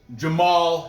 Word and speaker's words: Jamal: heavyweight fighter taking on jamal hill his name is spelt jama hall but it's just jamal jamal jamal hill angela's